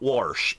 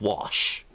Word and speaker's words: wash: in it okay people there is not an r in wash it's not wash it's wash okay seriously but I digress